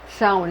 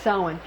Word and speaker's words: Samhain: That's pronounced Samhain. It's spelled like Samhain, but it's pronounced Samhain.